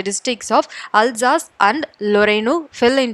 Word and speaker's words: Alsace: ஒன்று அல்சாஸ் அப்படின்ற ஒரு டிஸ்ட்ரிக்ட், ALSACE, பட் இது எல்லாமே ஃப்ரெஞ்ச் நேம்ஸ், அதால் ப்ரொனவுன்ஸ் பண்ணும்போது வேற மாதிரி இருக்கும். அல்சாஸ் ZASSன்னு சொல்லுவாங்க, அல்சாஸ்.